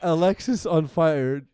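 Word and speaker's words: Alexisonfire: You're worried Walk that to the Alexis on Fire doesn't make sense, but it being one word is grammatically correct. No, I'm not saying it's grammatically correct, but if you pronounce it Alex is on fire, it's better than pronouncing it Alexis on Fire.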